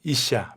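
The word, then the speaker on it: אִשָּׁה: 성을 이야기하는 단어인데 우리 이슈와 이샤 발음이 조금 어려운데 이슈아 이시라는 말이에요네 이시아 이샤네 창세기 2장 23절을 보면이는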